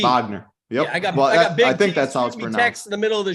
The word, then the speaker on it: Wagner: that's fine Franz Wagner that is with the V Wagner yeah the middle of